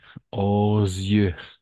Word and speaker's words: aux yeux: Aux yeux. Encore une fois, la liaison. Aux Aux yeux.